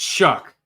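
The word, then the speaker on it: Schuck: I think it's Shuck. That's what it is. I keep saying wrong. It's Shuck. Yes, I heard it the other day, and the guy said it right. It's Shuck. I know it looks weird, like it's not that, but yeah.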